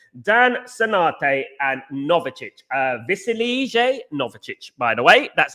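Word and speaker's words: Novičić: Dan Sinate and Novicic, Vasilije Novicic, by the way, that's how you say it.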